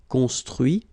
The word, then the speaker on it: construit: Okay, so you can notice that even if I put this final T, so as usual, I don't pronounce it. Okay, conduit, construit, cuit, détruit, instruit.